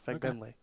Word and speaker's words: Fagbenle: Fagbenle.